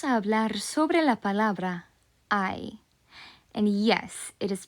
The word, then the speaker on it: hay: So the single Spanish word I, as I said, pronounced like I, means there is, there are, and it also means the questions of is there or are there?